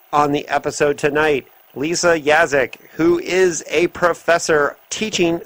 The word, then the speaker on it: Yaszek: Is that's pronounced Yaszek?